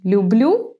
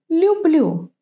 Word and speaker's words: люблю: Have a look at this word. Юлия, люблю. I wonder if you can hear that the pronunciation differs a bit. In the word Юлия, it's like English you. In the word люблю, it's softer, it's a bit different.